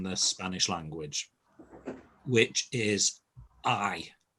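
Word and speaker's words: hay: the most useful word in the spanish language which is i it's h a y but it's pronounced i and it means there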